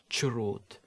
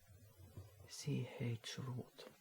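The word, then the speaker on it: chroot: I've heard someone pronounce it as churut. So I guess that's what it is. Shihurut. CH root.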